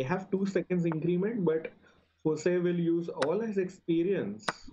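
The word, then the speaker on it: José: need to pronounce it Jose I was calling it Jose yeah it's like a Spanish name typical Spanish name so J is pronounced as H yeah yeah correct correct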